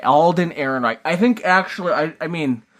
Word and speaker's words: Ehrenreich: Because you always make fun of how I pronounce it. Alden Ehrenreich. Alden Ehrenreich.